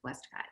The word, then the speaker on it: Westcott: Yeah, Prescott is spelled almost the same way, but pronounced Prescott. Westcott is pronounced Westcott, but you're close.